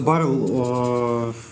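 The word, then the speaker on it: Burrell: Ну да, просто Баррелл, наверное, все-таки Берл, наверное.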